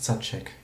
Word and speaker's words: Zaczek: It's pronounced Zaczek. It's Polish thing. The Z is pronounced ch.